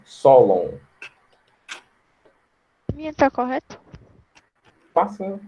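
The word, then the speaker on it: Sólon: O acento agudo é no O, no primeiro O. Solon.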